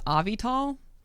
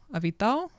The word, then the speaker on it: Avital: Like, because the like AL on the end, it's more like Avital.